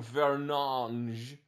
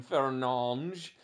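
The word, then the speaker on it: Fernandes: Bruno and he was like my name is pronounced bu fange and then I realized oh the FIFA announcers actually got it right because they've always been calling him fange they have hakeemi and a oh no well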